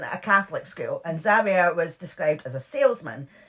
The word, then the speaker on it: Xavier: So Xavier, is that how you pronounce it? Xavier.